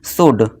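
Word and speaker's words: should: और जो इसमें एल होता है, ये एल हमारा क्या रहता है, साइलेंट रहता है।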